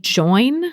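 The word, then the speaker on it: Joyn: size inclusive membership site join which is spelled j-o-y-n and it's at j-o-y-n join dot co not dot com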